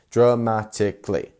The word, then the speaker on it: dramatically: one so dramatically dramatically so four syllables here and where is our stressed one what would you say y it is this one so dramatically dramatically not dramatically dramatically or dramatically you see we we are pronouncing this part of the word a lot more dramatically if you want